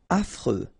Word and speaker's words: affreux: Affreux. Final X not pronounced. And then you get this fr, freux, affreux.